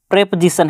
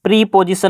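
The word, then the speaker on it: preposition: प्रेपोजिशन है। प्रीपोजिशन नहीं बोलना है, इसे क्या बोलना है? प्रेपोजिशन। सही प्रोनाउंसिएशन इसका ये होगा।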